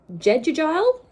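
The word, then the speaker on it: Jegudiel: after looking it up it looks like it's jeju gel i wasn't even close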